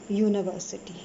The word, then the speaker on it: university: University starts with a y sound, that's a consonant sound.